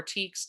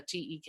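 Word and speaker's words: TEKS: planning these sessions uh or teaks depending on how you prefer um i i done too much early reading to not look at the tek and make it a short e but i understand why it can be a long e just like jiff and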